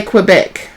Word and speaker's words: Quebec: In Australia we say Quebec. As if it's got a W.